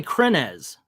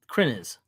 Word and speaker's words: Krenz: just hit me that I say your name wrong I say krenz k r NE Z when it's kren is I will never change